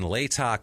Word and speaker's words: Latah: It's in Latah County, and that is how you fucking pronounce Latah County. Trust me, because I looked up local news reports, and that's how people in Idaho say it.